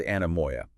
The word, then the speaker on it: anemoia: Let's start with anamoya.